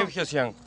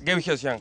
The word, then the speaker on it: Guevgeozián: ¿Cómo se pronuncia tu apellido? Gebgyosyan. Hay que lo leen un par de veces y ya lo agarran enseguida. ¿Cómo es? Permiso. Gebgyosyan.